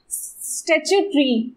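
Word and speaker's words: statutory: इसका प्रोनाउंसिएशन करने में, स्टैच्यू ट्री, I think once my student told me कि मैम इसको ऐसे बोला गया स्टैच्यू प्लस ट्री, तो मैं हमेशा इस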